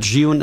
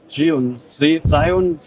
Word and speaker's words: Zhiyun: Zhiyun. We say Zhiyun, but the Chinese say Zhiyun or Zhiyun.